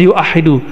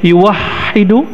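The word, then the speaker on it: يوحد: Kata tauhid berarti dari kata wahada yuwahidu, berarti dari kata tauhid, satu, atau ahada yuah, tapi nggak ada orang baca yuahidu, tetap bacanya yuwahidu tauhidan.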